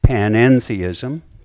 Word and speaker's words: panentheism: This is panentheism. Note the middle syllable en. It's a Greek preposition. And it distinguishes panentheism from pantheism.